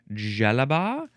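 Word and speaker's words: djellaba: The synonym is, how would you pronounce this? Jalaba.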